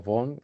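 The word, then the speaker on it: Vaughan: Vale, yo quería hablar, tener un profesor en inglés que tuviera el método Baugan o Bon, si lo si lo pronunciamos en inglés, eh, y ya pues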